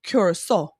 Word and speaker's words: Curaçao: So, Soul Beach Music Fest over in Curaçao. That's how the locals pronounce it.